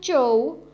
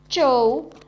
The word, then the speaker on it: zhou: The next Pinyin is ZHOU, has a pronunciation of chow, chow. Repeat after me, chow.